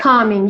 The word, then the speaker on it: calming: Calming Mm-hmm. is okay. Calming, yeah. The L Calming. is silent.